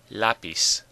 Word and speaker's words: lápiz: Now it ends in a Z, not an N or an S, so the stress should be on the last syllable.